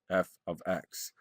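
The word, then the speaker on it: f(x): can be replaced with f of x. Okay, it's simply a notation to designate a function. It's pronounced f of x.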